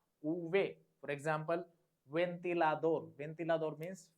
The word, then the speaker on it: uve: The pronunciation of V is uve.